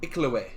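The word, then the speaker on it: Iklwa: It is an Iklaway.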